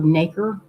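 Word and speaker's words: nacre: Now, faceted pearls, they don't make them anymore because you need a thick layer of naker. N A C E R E rhymes with acre.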